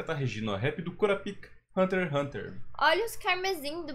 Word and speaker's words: Kurapika: Kurapika. Kurapika, não é Kurapika, é Kurapika. Corrigiram a gente, né?